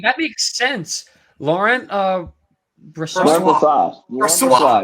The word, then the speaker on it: Brossoit: I can pronounce that one easy. That makes sense. Laurent Brossoit. Brossoit. Brossoit. Brossoit.